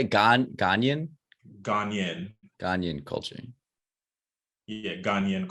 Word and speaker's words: Ghanaian: Ghanaian?